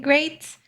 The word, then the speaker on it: great: Watch out for meat and great and threat. They rhyme with neat, sweet, and straight and depth.